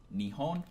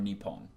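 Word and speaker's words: 日本: meaning some people ask which way is the correct way is it Nihon or new poem well actually there is no correct way to say both are 100% correct I actually heard from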